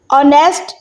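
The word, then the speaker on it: honest: Number 1, ऑनेस्ट। इसका मतलब होता है ईमानदार। ऑनेस्ट में एच साइलेंट है।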